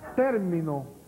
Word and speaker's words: término: Acentúeme término y terminó. En la N. Y la T.